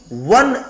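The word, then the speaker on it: one: मजे की बात देखो, ये ओ से शुरू हुआ है, ओ वोवेल है, लेकिन उच्चारण इसका हो रहा है व, और वह आता है क से ज्ञ के बीच में, इसलिए यहां ए का प्रयोग किया जाएगा।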